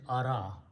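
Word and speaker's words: أرى: So ara that you see there, this alif is not pronounced, so it is ara.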